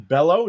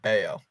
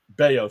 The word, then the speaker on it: Bello: it's pronounced it's Brian beo beo so the Double L is like uh like what's his name with the Phillies casos even though it's two L's it's got that Y sound uh cutter Crawford Walker